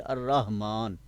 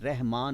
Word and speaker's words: الرحمن: الرحمن۔ الرحمن۔ عام لوگوں کے نام بھی ہیں عبد الرحمن، ٹھیک ہے، تو جو عربی کا انداز ہے، تلفظ ہے، وہ الرحمن ہے، رحمان نہیں ہے، کیا بولا؟